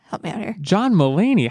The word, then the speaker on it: Mulaney: we just kind of saw andy sandberg and john milani how do you say his name help me out here john mulaney how dare you do that to john mulaney